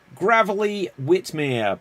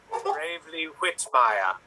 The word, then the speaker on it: Bravely Whitmire: advice and next up gravelly whitmere please introduce yourself to the people yes hello i am great you made me mispronounce my own name bravely whitmire and i run the